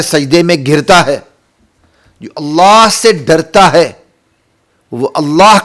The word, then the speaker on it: اللہ: نزدیکی حاصل کرتا ہے۔ اللہ اللہ نہ کہا کرے، اللہ کہا کرے۔ اس کا صحیح تلفظ یہی ہے، اس کی صحیح پرونانسیشن یہی ہے، اللہ۔ اور ہر جگہ نہیں